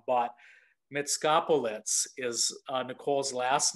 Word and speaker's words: Mitskopoulos: We were joking off camera that I was going to call her Nicole M, the mysterious Nicole M, but Mitskopoulos is Nicole's last name.